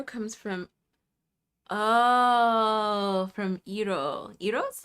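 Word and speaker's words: gyro: Iro's, right? Is that how that's pronounced? It's not Giro. Iro. Isn't it Iro? Isn't that how it's pronounced?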